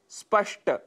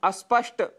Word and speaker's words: स्पष्ट: शब्द है स्पष्ट, जिसकी जगह हम अस्पष्ट यह उच्चारण कर बैठते हैं।